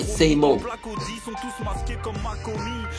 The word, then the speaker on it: SAMO: Faut ok, donc il le prononce à l'anglais, say mo.